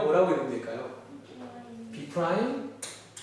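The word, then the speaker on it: B′: 보통 읽을 때 B 그냥 한국말로 써드릴게요. B 프라임이라고 읽으시면 돼요. B 프라임.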